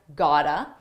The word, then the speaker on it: gotta: Got to sounds like gotta.